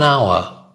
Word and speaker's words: hour: next one half an hour half an hour here the is not pronounced it's a silent this hour half an hour half